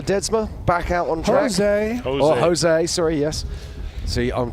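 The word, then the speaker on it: José: it what is it in Portuguese we pronounced the J whereas in whereas in Spanish and in Mexican it's it's h did you just say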